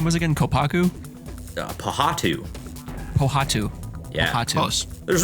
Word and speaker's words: Pohatu: Pohatu. Pohatu. Yeah. Pohatu. Close. There's reasons I'm not doing a quiz name on the a quiz round on the names, because that would be just Pohatu.